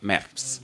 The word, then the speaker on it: März: Voilà, März. Mais qui se prononce comme un T et un C.